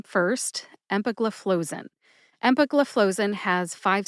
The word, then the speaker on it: empagliflozin: the new Love house flow is the fourth syllable flow as in water flows out of a faucet and Zin like zinfindel which is a very popular wine here in the United States especially on the west coast near the Pacific Ocean as it happens put